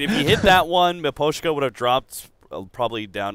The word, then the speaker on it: Miposhka: Miposhka? How do you say his name by it? Miposhka. Miposhka.